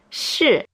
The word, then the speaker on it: 试: 试. It has the same pronunciation as 是, which means to be.